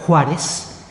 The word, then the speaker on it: Suárez: El apellido Suárez en aquellos momentos también se le llama con J, se escribe con X y se pronuncia Juárez y son tienen tierras